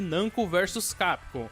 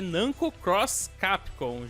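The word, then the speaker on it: Namco × Capcom: Esse jogo é chamado muitas vezes de Nanko versus Capcon, mas na verdade a pronúncia correta é Nanco Cross Capcon, já sinalizando aí que é um crossover.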